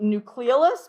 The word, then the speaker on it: nucleolus: You'll also hear some people pronounce it nucleolus, but I do not pronounce it that way. So I go nucleolus. But if you hear people say nucleolus, that is also a correct pronunciation.